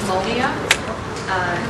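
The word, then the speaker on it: molnija: It's Molnia, is what I'm told by a real life Russian speaker.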